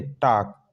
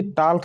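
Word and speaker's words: talk: देखिए टी ए एल के, टाक, बल्कि टाल्क नहीं, टाक पढ़ेंगे। याक, वाई ओ एल के, याक, वाक, फाक, चाक, ठीक।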